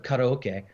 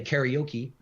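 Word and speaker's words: カラオケ: do a lot of karaoke. In English, people say karaoke, but in Japanese, it's pronounced karaoke, and which actually means empty orchestra.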